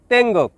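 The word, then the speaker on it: tengok: শব্দটি লেখার ক্ষেত্রে লিখতে হয় তেঙ্গক, তবে এর উচ্চারণ হবে তেঙ্গো।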